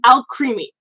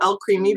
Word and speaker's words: Alcremie: It's basically like alchemy, but Alcremie.